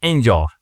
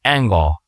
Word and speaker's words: angle: I know this is this is the white the white angle the white ang it's not angel it's like angle I don't know how